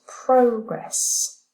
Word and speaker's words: progress: It's progress because it's the noun, and report.